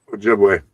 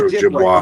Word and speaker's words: Ojibwe: Ojibwe. Or Ojibwe. Okay, so I was right. Yep. I just didn't want to mispronounce it and be like, I'm an idiot.